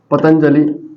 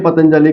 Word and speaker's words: पतंजलि: में बताओ की यह जो अनुस्वार है पतंजलि का उच्चारण को तो इस अनुस्वार के बाद कौन ए रहा है जे और जे के परिवार का पांच वाक्य आपका नाम तो